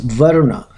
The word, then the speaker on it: Varuna: This is how it's pronounced, Varuna.